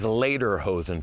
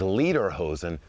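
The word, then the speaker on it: Lederhosen: The word is later hosen, folks. Those are the traditional leather shorts we're all wearing. Now, later hosen translates to leather pants. If you mispronounce it as leader hosen, that would actually translate to singing pants.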